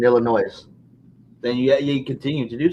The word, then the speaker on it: Illinois: You don't pronounce the S in Illinois.